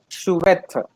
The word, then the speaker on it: chouette: This one, always remember ch must give the sound of sh. Okay, so what will be the pronunciation, Pranav? Shoot. Chouette.